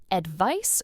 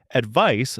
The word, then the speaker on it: advice: Advice, spelled with a C, is a noun. It's a suggestion or recommendation you give someone. It has a soft s sound at the end, like ice.